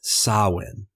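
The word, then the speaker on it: Samhain: These immigrants brought with them folk customs from the ancient Celtic festival of sawin. It's spelled s a m h a i n but it's pronounced sawin.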